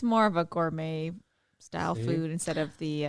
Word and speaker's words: gourmet: it's more of a gourmet style food instead of the uh instead of the the the dry hard food oh yeah that's French too Gourmet oh yeah you're right the tea is silent so what are you thankful